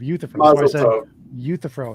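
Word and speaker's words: Euthyphro: I was just correcting your misprononunciation of uuthifro is how you say it.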